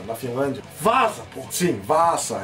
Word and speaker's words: Vaasa: Sim, Vaasa, é assim que pronuncia.